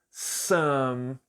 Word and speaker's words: some: Então, aqui, novamente, nós temos o som de a. Some. Some. E aí o E, no final, já falei para você que o E ele é mudo, então ele não tem pronúncia. O último som que tem aqui é o som de M.